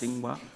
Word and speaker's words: Tsinghua: Did I pronounce that right? Yes. Tsinghua.